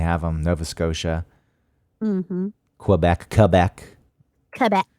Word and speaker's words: Quebec: mhm Quebec Quebec Quebec I know it's I I don't like saying it that way Quebec it just feels pretentious I don't know why because if it's the proper way to pronounce it then why not pronounce it Quebec but it's like I